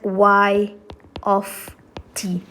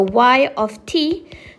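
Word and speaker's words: y(t): YT over here so this is pronounced as y of T okay so it's not y multipli by T So y of T so doesn't mean y MTI by T no it doesn't mean that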